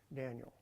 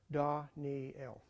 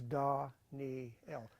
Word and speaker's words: Daniel: that NE don don L that's how you pronounce Daniel in Hebrew Dan L we say of course in English Daniel but it's actually D NE D Neel okay it's no half vows or anything they're